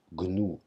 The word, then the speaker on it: GNU: donc nous pas unix on le prononce gnu avec un g audible donc afin de récolter